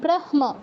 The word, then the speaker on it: ব্রহ্ম: কিরকম নিয়ম অনুযায়ী এটা হওয়া উচিত ছিল কি ব্রহম ব্রহ্ম এরকম কিন্তু মটা আগে উচ্চারণ হবে যেহেতু ম এই পাঁচটার মধ্যে পড়ছে